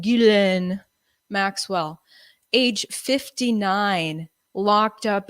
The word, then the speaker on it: Ghislaine: Ghislaine Maxwell, age 59, locked up in a Brooklyn jail right now.